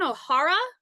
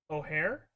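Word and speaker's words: O'Hara: like Franken we mean Catherine Ohara O'Hare Ohara yeah sorry I I said her last name wrong I'm sorry Before Christmas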